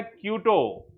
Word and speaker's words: Quito: Ecuador की capital है क्यूटो। क्यूटो QUITO, ध्यान रखिएगा स्पेलिंग, क्यूटो QUITO।